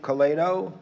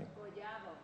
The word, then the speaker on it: Collado: How is your name pronounced properly? Collado.